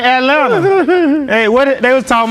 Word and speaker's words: Atlanta: that's just like saying Atlanta hey what they was talking about uh Brian Kelly talking about the fact that he says both T's in Atlanta that's how you say it I guess Atlanta but